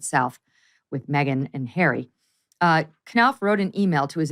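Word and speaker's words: Knauf: Sydney for the Invictus Games, Jason, is it Knopf? Is that how you pronounce his name? Knopf, yeah.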